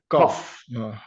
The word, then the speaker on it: cough: With F. This sound, it's going to sound like an F. Cough.